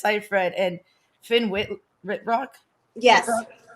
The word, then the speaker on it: Seyfried: and i can't i don't know how to pronounce the last name sometimes but i think it's seifried and finn whit rock yes yeah and to